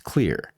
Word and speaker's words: Xlear: It's Xlear. That's X L E A R pronounced "clear" throughout history, improvements in